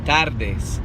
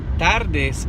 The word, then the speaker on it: tardes: But tardes is a hard word because it's got 3 of the hardest consonants to pronounce for the average American in Spanish. So that's why I want to make sure that you have the te and the de sound, because you're going to be alternating between those 2 consonants and the hardest letter in Spanish, which is ere, not r.